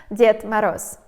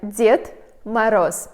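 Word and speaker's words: Дед Мороз: we say in Russia, Ded Moroz. When I say this, most of Americans, they are a little bit confused. They say is he dead? No, guys, he's alive, but it's pronounced like Ded Moroz, Grandfather Frost.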